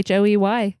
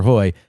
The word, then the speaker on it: Hoey: Or me at Hoy, Hoey. Hoey. It's not Hoy, Hoey. It's Hoy, and Hoy is spelt Hoey, just for clarification.